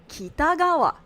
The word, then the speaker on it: Kitagawa: should be Takamaki, or Kitagawa, or however he says it, it's like Kitagawa. It's so easy. It's the same pattern. Low, high, high, low. Kitagawa.